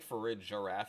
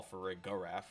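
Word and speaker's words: Farigiraf: giraffe and not a graph so I think for a giraffe is how we pronounce it but hey that's just me and because of the name which a lot of people call for a goraf or whatever reason um I think is really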